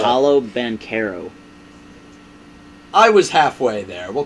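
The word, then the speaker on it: Paolo Banchero: number 2, and then Pancho Bachero, is that how you say his name? The guy Pancho. How do you say his name? I have no It's, idea. Paulo Banchero.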